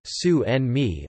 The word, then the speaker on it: tsunami: gin bolat harbour wave English pronunciation su and me also known as a